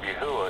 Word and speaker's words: Yahuah: And it's like you said before, I know we talked about this in the past, the key to pronouncing the name of Yahuah is in the tribe called Yehuda.